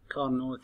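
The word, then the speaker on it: Carnot: محاضرتنا اليوم كار نوت سايد. حقيقة هو أفضل دورة انعكاسية ريفرسيبل سايكل تعتبر كار نوت سايد. طبعا تلفظ كارنو وليس كارنوت، كارنو كارنو سايكل، لأنه العالم اللي اكتشفها هو فرنش انجينير بال 1824 سادي كارنو اسمه.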